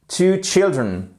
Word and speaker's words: children: mot child children mais faites bien attention au changement ici de prononciation de la voyelle que non seulement on a unriel au sens qui ne suit pas la règle générale mais en plus on a un changement de prononciation de la voyelle on passe de one child children et c'est la même